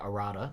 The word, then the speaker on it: Arata: I will say Arata, because I believe that is the correct pronunciation of that part of the name, has been dropping